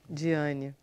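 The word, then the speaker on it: Dyene: Vamos conversar um pouquinho com Diane.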